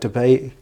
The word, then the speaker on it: Dubai: You've been to a place like Dubai, or Dubai, whichever way you want to pronounce it, or I might say it properly, Myanmar.